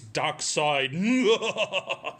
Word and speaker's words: Darkseid: His name is Darkseid. He's the evil, tyrannical ruler of Apocalypse, as I said.